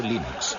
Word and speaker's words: Linux: eso se pronuncia Linux Bueno yo Linux lo pronuncio Linux sin embaro si FES Lin no hayuda de